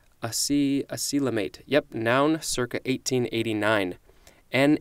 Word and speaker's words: acoelomate: more for this episode I believe this is pronounced a coelom 8 I see a coelom 8 yep noun circa 1889